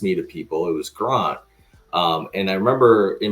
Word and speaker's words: Grant: is spelled Grant but we pronounce it Grant because I was born in South Africa when I moved here